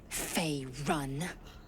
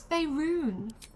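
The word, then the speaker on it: Faerûn: on matters of this F run no no it's fyon such a funny interaction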